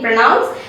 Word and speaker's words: pronounce: it's pronounced pronouns and the p r o is also said as p r u h naught p r o okay pronounce we don't round the lips when we say pro in pronounce as well as in pronunciation we have pro right so here we don't round the lips when you say pro we say pra pronounce and pronunciation so the next word